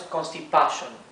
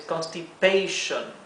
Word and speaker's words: constipation: español tienen significados diferentes aquí la a adquiere el sonido largo porque está seguido de una consonante única y luego de una vocal sí por lo tanto no es constipation es constipation aquí es diarrea diarrea es